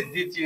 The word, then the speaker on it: দ্বিতীয়: তো দেখো উদাহরণ কি বলছি, দ্বিতীয়, এরকম কিন্তু পরীক্ষা আসে। দয় বহুলা রস্যি তয়দের কি অন্তঃস্থ দ্বিতীয়, এটাকে যদি আমরা ভাঙি তো দয় রস্যি তরস্যি অন্তঃস্থ করে দ্বিতীয়। এখানে বফলা উচ্চারিত হচ্ছে না।